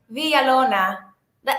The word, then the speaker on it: Villalona: Villalona. The L's make like Villalona. Villalona. Villalona.